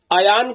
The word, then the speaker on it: ایان: Meaning کیا ہے۔ دیکھیے، ایان کا جو درست تلفظ ہے وہ ہے الف پر زبر، یا پر تشدید، اور کلام عرب میں